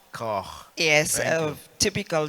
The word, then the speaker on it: Koch: Over to you, Lady Koch. I hope I've pronounced your name correctly. Koch. Koch.